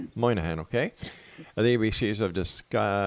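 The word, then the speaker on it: Moynihan: Uh Alan Moahan Moahan.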